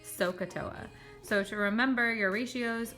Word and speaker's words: SOHCAHTOA: so CUH Toa and you just pronounce that like it says sohcahtoa so to remember your